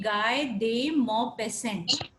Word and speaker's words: Guy de Maupassant: Actually, he was a French writer, so his pronunciation will be Guy de Maupassant. Actually, it is ending with T, but here T is silent.